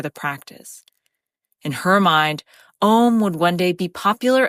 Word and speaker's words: OM: She had popularized the term orgasmic meditation or OM, pronounced M, and founded a company called One Taste, to teach students how this partnered clitoreral stroking technique could transform their lives.